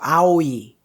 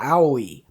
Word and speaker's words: Aoi: you think it is you just gotta make sure you don't say ow because ow doesn't exist in the japanese language it's ow so just practice going between wow wow like that and the e part at the end it comes super easily so aoi hana aoi but anyway